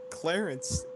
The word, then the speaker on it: Clarence: It's to Clarence. That rhymes with Terrence.